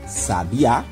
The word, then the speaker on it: sabiá: o principal é porque essas duas palavras têm a sua última sílaba sendo a mais forte ou seja sendo aquela que nós pronunciamos que nós falamos com mais intensidade então a temos aqui a palavrinha sabe a Aonde a última sílaba é que nós falamos com mais força Sabiá e nós temos